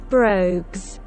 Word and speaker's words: Brogues: I'm not sure about how that's pronounced. Yeah, let's like check it, right? Brogues. I was pronouncing it right.